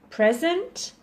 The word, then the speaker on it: present: the word Pleasant and the word present the spelling is exactly the same but if we stress the wrong syllable will the listener will get the wrong meaning okay so let's go